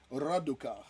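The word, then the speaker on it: Radukar: Raduka. Yeah, it's Raduka.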